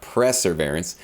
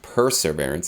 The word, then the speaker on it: perseverance: been telling me that i call it press surveillance and i didn't realize actually my entire life that it actually is pronounced perseverance so we've got perseverance which